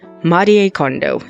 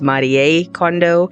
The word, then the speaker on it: Marie Kondo: Secondly, Marie Kondo. Yes, that is how you actually pronounce her name. It's not Marie, it's Marie Kondo.